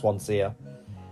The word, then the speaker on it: Swansea: she's written called Swansia spelled Swansea but pronounced Swansia.